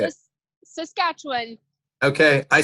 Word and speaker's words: Saskatchewan: you say it how do you say it Saskatchewan okay I said it right I got you